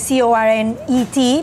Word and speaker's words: cornet: You spell it C-O-R-N-E-T, but it's French, so you don't say the T at the end.